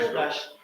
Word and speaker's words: юлташ: Читается как юлташ.